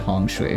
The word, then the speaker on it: Feng Shui: Feng Shui is the standard Mandarin. The Taiwanese pronounce it Hong Shui.